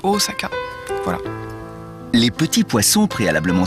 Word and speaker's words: Osaka: les chaînes normal où les gens disent osaka au lieu de osaka voilà les petits poissons